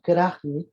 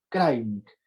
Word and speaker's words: Krajnik: Nosotros descendemos italianos, ok, y nuestro apellido se pronuncia, no es Krajnik con J, o sea, se escribe con J, pero me decía, la J se pronuncia como I, Krajnik.